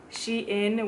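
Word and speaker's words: Shein: then i have amazon she in which i pronounced sheen i just ordered like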